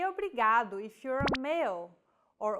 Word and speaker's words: obrigado: here in lesson two don't pronounce it like an English R don't roll your tongue listen to how Anna is pronouncing this sound the think of the quick tapping motion your tongue makes as it strikes the top gum Ridge in words like ladder or butter y altogether it's foreign